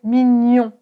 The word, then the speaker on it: mignon: Ce son se prononce gne gne donc c'est toujours nasal. Et tu vas prendre ta langue et tu vas la coller à ton palais. G. Tu connais certainement le mot mignon.